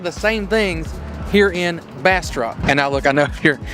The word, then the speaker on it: Bastrop: Like, I just want to say Bastrop, okay? But it is, I don't know if I'm holding the mic. I want to say Bastrop, but it is Bastrop, kind of like bass, the fish, and drop, but with a T.